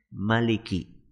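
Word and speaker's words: مَلِكِ: apa bunyinya malikinas malikinas cara membacanya cuma satu saja Maliki pendek tidak malikinas berbeda dengan Surah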